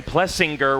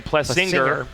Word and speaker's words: Plessinger: uh you know when we found out that Aaron plessinger was actually Aaron plus singer after calling his dad plessinger for 30 years absolutely and I said